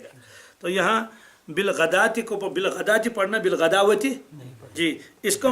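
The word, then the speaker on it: بالغداة: بعض لوگ جو ہیں وہ چونکہ واو لکھا ہوا ہے تو وہ جو پڑھیں گے تو بالغداوتی والعشی. جی، تو اس آیت کا شان نزول کیا ہے، اس کا مطلب کیا ہے؟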